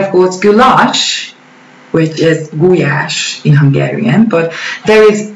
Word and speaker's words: gulyás: But as far as I know, they pronounce it paprika in English. And of course, goulash, which is gulyás in Hungarian, but there is goulash soup, which